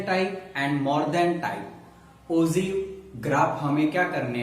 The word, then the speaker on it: ogive: First the term of द ओजीव इज a pronounce of द कौन सा होता है, ओजीव होता है and derive from the words ओगी में से क्या हुआ है, ओजीव्स डेवलप हुआ है।